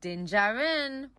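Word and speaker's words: Din Djarin: up here your girl figured it out it's din jarin evil the good kinda he ends up with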